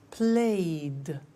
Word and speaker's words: played: So, the pronunciation of ed becomes D. It becomes played.